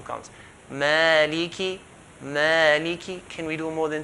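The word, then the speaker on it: مالكِ: A lot of people, they say Malik Yawmi. If you say Malik Yawmi, that means you did not give the kaf clear kasra. Maliki.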